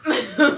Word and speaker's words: WAP: So the acronym is pronounced. WAP. Nigga, WAP. I know. It ain't whap.